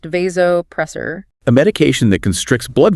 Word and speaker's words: vasopressor: A patient with dangerously low blood pressure needs a vasopressor, pronounced vasopressor.